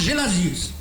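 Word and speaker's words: Gelasius: Donc, de nom latinisé, donc de nom en latin, son nom se prononce Gélasius.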